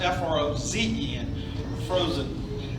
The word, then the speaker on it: Frohsin: We all want to say Frohsin. But it's actually pronounced F-R-O-Z-E-N. It's actually pronounced F-R-O-Z-E-N, Frohsin.